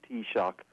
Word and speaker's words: taoiseach: is known as the t shock so if you want to take the correct pronunciation would i take a cup of tea and i might give you an electric shock t-shock that's a good